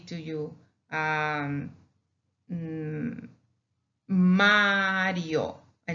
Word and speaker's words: Mario: So we respect that single R and we pronounce it as ere, Mario, Mario.